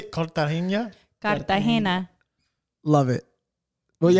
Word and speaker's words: Cartagena: How do you say Cartagena?